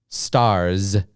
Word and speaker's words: stars: and you listen to the s sound that's at the end of this word boss s s it has an s sound okay so boss okay stars z stars has more of a z sound okay so number 18